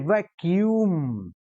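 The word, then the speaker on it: vacuum: अच्छा अब बोल के ऐसे देखो इसको, इसका उच्चारण क्या है, उच्चारण बोलिए आप, वैक्यूम नहीं, वैक्यूम, क्यू यू पर स्ट्रेस करिए, वैक्यूम, हाँ वैक्यूम, आधा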